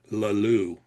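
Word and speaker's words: Le Loup: He was very particular to say that you pronounce the villain's name Leloup. The E is silent.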